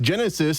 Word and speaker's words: Genesys: Genesis, it's spelled Genesys, including the title track, which we've not heard yet, Old Sin, New Skin, and Rise Up.